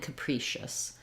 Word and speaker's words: capricious: here we have the schwa for the final syllable so Caprice and capricious that's probably the main thing to to recognize